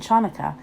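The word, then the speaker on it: Chanukah: say it with me actually both Hanukkah and chanukkah are right the holiday's name is Hebrew so there are different ways to spell it and say it in English thanks applesauce says Lucy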